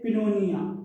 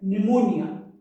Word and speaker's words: pneumonia: say psychology psych psycho pneumonia we don't say pinnonia right pneumonia in these words let's revise it once more